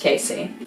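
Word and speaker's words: Kesey: and author Ken Casey I think it's pronounced Casey he wrote one floor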